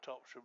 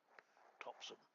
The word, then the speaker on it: Topsham: which is the correct Devonian way of pronouncing Topsham. And I think most of us that are outsiders call it Topsham, as opposed to Topsham.